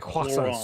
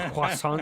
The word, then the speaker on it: croissant: My daughter's been eating loads of croissants. Croissant. You know, you got to pronounce it croissant. You know, you Croissant. can't just say fucking croissant. You can't say it normal.